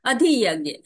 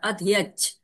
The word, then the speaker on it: अधियज्ञ: अधियज्ञ, कहीं कहीं यही इसको अधियच्छ भी कहा जाता है, उच्चारण किया जाता है अधियच्छ।